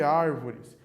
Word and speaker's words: árvores: Reparem na palavra árvores, para nós vermos essa questão da tonicidade. Árvores. O ar é a sílaba mais forte, a tônica. É a antepenúltima. Nós temos o res, o vo e o ar. É a antepenúltima, uma proparoxítona, certo?